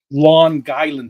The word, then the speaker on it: Long Island: Lawn Island. That's how you say it downstate New York. Lawn like your lawn.